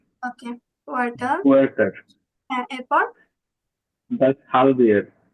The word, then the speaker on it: Quartal: কোয়ার্টাল, কোয়ার্টাল, কোয়ার্টাল হবে না? কু জি জি পরে জি, কি আছে? কু আছে, আ আছে, তার মানে কুয়ার্টাল।